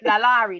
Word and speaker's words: LaLaurie: Lalari. That's it. That's Oh, okay. it. I Yeah. told Oh, y'all yeah. I mispronounce everything, right?